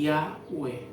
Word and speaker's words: Yahweh: no se pueden pronunciar, porque ¿cómo pronunciamos IHWH? Sería, ¿no? Pero nosotros, por la sabiduría que Yahweh nos dio a través del Ruach, pensamos que su nombre es Yahweh.